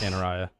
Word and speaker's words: Canaraya: I believe the first name is Shams. I think it's Canaraya, actually. I think it's pronounced Canaraya.